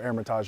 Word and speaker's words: Hermitage: we're at one of my favorite venues the Duke Mansion at uh 400 as GPS says Hermitage or Hermitage if you don't pronounce the h they only host 25